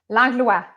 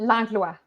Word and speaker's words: Langlois: Langlua Langlua. Yeah, it's French Canadian, so it's normal that you wouldn't, you know, that so did not come out that way.